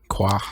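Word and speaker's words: Croix: her name is Professor qua uh she's got like is that how they say it yeah that's how you say it qua it's a French pronunciation uh qua qua it's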